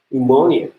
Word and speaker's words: pneumonia: First P, you do not pronounce this P, so the pronunciation is something like pneumonia.